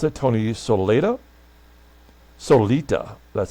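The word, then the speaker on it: Solaita: Jim Lytle, I think is how you pronounce it. Tony Solita.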